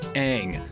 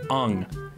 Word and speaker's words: Aang: Starting with Aang, you say it like Aang, but the movie said Ung.